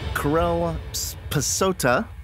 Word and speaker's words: Karel Psota: here's interview with Corel passata I'm here with Corel passata this is how you pronounce his name properly he's a sound designer